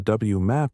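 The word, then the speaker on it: WMAP: Then with the W MAP satellite, pronounced W map launched in 2001 and most recently with the plank satellite launched by the European Space Agency in 2009.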